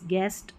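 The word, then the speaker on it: guest: जी यू को ग पढ़ना है। ऐसे याद रख लें। जैसे गेस गेस्ट और गाइड।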